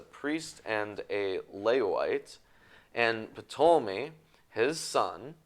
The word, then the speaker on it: Ptolemy: and a Levite, and Ptolemy, his son. Ptolemy. Just Ptolemy. You don't have to pronounce the P. Yeah. You don't have to pronounce the P. Yeah, that's a silent P.